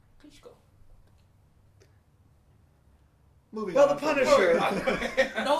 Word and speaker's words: Klitschko: didn't I kichko kichko it's Klitschko it's kichko Vladimir Klitschko kichko Klitschko kitko I don't want to go too long on this because we I think it's but like maybe how how do you say like uh ESP Vladimir Klitschko you're not you're not you're saying it with your American accent I say it with his accent kitko Moving On The Punisher